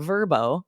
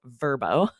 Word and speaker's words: Vrbo: place to stay through Verbo, used to be VRBO, but they're rebranding and calling themselves Verbo, or Airbnb is a cinch, right?